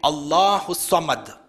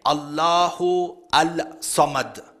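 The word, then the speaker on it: الله الصمد: See, when you're reciting the surah, you say Allahu Samad. You don't say Allahu Al-Samad. According to the rules of tajweed, the Lam is silent, there is idgham, and you don't say Allahu As-Samad. You join it together, Allahu Samad.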